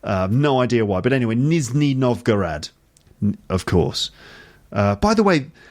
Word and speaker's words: Nizhny Novgorod: then I'm sorry okay Nizhny Novgorod not Mizuki why did I say Nizhny Novgorod on the podcast the other day I don't know no idea why but anyway Nizhny Novgorod of course by the